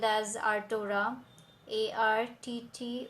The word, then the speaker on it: Arttora: go check it out on Play Store it is spelled as our torah AR TT o ra and be the most